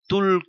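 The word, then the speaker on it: 두: Bibimbap tul krut, thực tế tul đó là hai trong số đếm thuần hàn nhưng khi có đơn vị là krut thì chúng ta chỉ đọc là tu.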